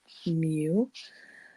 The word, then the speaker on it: mu: first one is you so the way you pronounce that it's a greek letter mu and i hope you kind of watched how